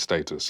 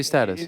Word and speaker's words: status: status well listen obviously back home it's status yeah but is that wrong to say status it's basically it's just